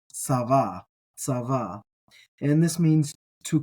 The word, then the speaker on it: צוה: VAV he s VAV he um and it's pronounced SAA SAA and this means to command to command